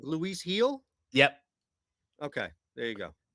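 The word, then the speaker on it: Gil: who wants to uh look he like Luis heel yep okay there you go two plus shots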